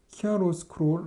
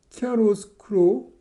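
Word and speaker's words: chiaroscuro: 키아로스크로 라이팅. 예. 그래서 이제 키아로스크로 발음하기도 어려운데 이게 이태리어라고 합니다.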